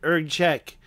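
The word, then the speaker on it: Erg Chech: arches of ERD check I even checked the pronunciation ERG check this is it ERG check here we are in uh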